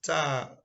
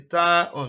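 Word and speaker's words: تاء: And the third one is Ta. So if you want to pronounce it in full, you say Ta-on. If you want to shorten the pronunciation, it is Ta.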